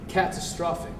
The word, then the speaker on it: catastrophic: Catastrophic. It's the second. Okay. Second syllable.